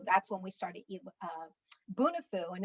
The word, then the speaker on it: Bunifu: populations and so that's when we started uh bunifu and it's pronounced bunifu it's a healey term yeah yes it's a